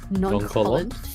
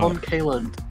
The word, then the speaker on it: nonchalant: Nonchalant. Yes. It's What? non-Kaland. Non-Kaland. Kevin, no, that's even worse. Non-Kaland. It's an A. Non-Kaland. Actually, the second N is silent, so it's nonchalant.